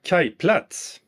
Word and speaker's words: Kajplats: but I'm going to let my Swedish colleague pronounce the name. Take it away, Jan. IKEA Kajplats.